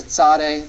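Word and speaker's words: tsade: than sign stroke that's the Sade the TS sound in Hebrew the next letter we're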